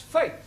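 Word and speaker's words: fete: a bet set get there are of course exceptions to the rule for example f e t e is also pronounced fake hi moving on to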